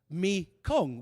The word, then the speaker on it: Mekong: Shiva lingams and yonis are sculpted into the riverbed, turning the main river of Southeast Asia into the Mekong, which is merely the Khmer pronunciation of Ma Ganga.